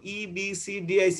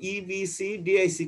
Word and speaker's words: EBCDIC: আর 2 নম্বরে মাঝখানে যেটা লিখছি সেটা হলো EBCDIC কোড। এটাকে আলাদা আলাদা পড়বে, একসঙ্গে উচ্চারণ করার চেষ্টা করবে না। এটা হলো EBCDIC কোড।